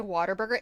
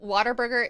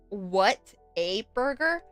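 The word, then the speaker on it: Whataburger: So, Waterburger is a food chain in Texas. It started in Texas and it's a Texas chain. Uh, it's actually what a burger, but everyone in Texas pronounces it water burger.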